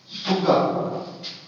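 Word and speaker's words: Tsuga: उदाहरण के तौर पे सुग्गा, टी साइलेंट है, जिम्नोस्पर्म का नाम है।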